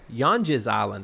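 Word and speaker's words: Yonges Island: didn't talk to me Ireland yanjis Island okay yonja's Island that's how you say that so we've got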